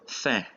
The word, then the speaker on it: fin: An example is the word fin, which is the end. In this case, IN is pronounced un. The second example is the word ceinture, which is belt.